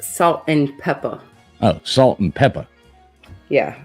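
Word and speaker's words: Salt-N-Pepa: four for Destiny's Child I believe that's pronounced salt and Peppa oh salt and Peppa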